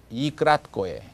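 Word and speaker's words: и краткое: 그래서 명칭은 이 크라트코에. 크라트코에라는 말은 short, 짧다 이런 말이거든요.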